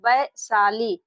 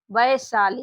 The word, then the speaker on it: वैशाली: अब आइए नेक्स्ट देखिए यहां पर लिखा बी ए आई एस एच ए एल आई। अब ये देखिए इसका उच्चारण क्या कर रहे हैं? वैशाली वैशाली। यहां पर बच्चों बी बी से इसको लिखेंगे ब। अब जो ए आई है बच्चों ए आई से इसमें लगेगी ऐ की मात्रा।